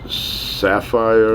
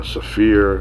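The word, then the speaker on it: Saphir: And I think they pronounce it Sapphire or Safir. I think it's Sapphire.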